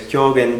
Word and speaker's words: Kyogen: My um favorite Zen ancestor um is in I know Japanese pronunciation because I live in Japan. He's from China. He's he his name is Kyogen Chan and and he